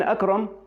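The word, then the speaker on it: أكرم: فاسم اكرم برضو هنلاقي اول حرف منه اللي هو الالف وعليه همزه من فوق. الهمزه دي اسمها همزه قطع. همزه ايه؟ قطع. فلازم انطقها كده، اكرم.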